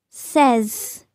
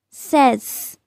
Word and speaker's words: says: It's says. Says. Try to make Z sound.